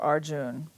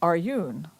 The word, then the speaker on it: Arjun: arjune by the way I heard someone call him aryun it's Arjun our Yoon is like I think if you pronounce it no it's Arjun okay so we're saying it the right way okay well maybe our